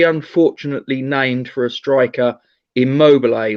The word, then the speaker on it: Immobile: named for a striker, Immobile or Immobile, if you prefer the English pronunciation.